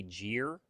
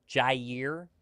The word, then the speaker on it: Jaire: It's cuz I talk so fast, it sounds like I say Jere. Jaire.